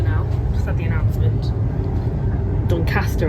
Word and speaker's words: Doncaster: We're just pulling into Doncaster now. Just had the announcement. Doncaster, I should say. I guess that's the local. How the locals pronounce it.